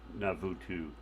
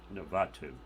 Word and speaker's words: Navatu: That has Navutu Reef. Navatu. I'm being corrected on my pronunciation here, which is often happens here.